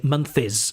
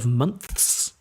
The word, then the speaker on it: months: together three months and so they say month is because it's easier for them to spit out another syllable instead months which requires a nth months they say month is